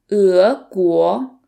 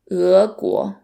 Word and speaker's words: 俄国: And then the next one is 俄国, 俄国, which means Russia.